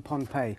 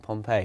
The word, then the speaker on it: Pohnpei: did you happen upon pompeii which is spelt uh we must point out um p-o-h-n-p-e-i but it's a very